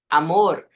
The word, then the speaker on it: amor: Amor. Aqui no final da sílaba também é interessante perceber que é amor. Amor tem uma vibraçãozinha no final.